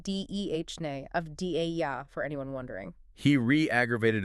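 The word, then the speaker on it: Deni Avdija: Danny of DJ. Yeah. And that's pronounced Dhne of Da for anyone wondering.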